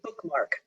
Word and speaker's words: BkMk: that correct you know they pronounced a bookmark okay that's so much better than what i just said i had to learn that too alexandra i didn't know either no it's a great press i've heard of them and i've always wondered how to pronounce that so bookmark press that was in 2015.